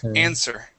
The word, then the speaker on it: answer: now this word here the uh W is silent okay instead of saying answer it is an answer okay answer okay one